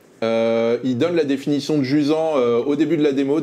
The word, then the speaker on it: Jusant: de Dontnod, le charmant Jusant. Ça se prononce à la française parce que c'est un terme français pour signifier...